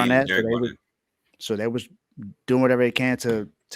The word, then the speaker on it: Derek Barnett: I think it's Daryl Barnett. I could be saying his name wrong, Derek. but Derek His name is Barnett. Derek Barnett.